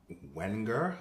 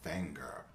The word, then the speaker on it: Wenger: the Swiss Army knife I thought you would pronounce the name Wenger but it's actually finger and from what I've seen online about this